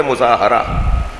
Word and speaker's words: مظاہرہ: یہ جو ہم مظاہرہ کہتے ہیں نا، یہ اس کا صحیح تلفظ ہے مظاہرہ.